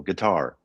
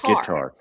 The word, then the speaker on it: guitar: Guitar it's it's second syllable guitar, not guitar.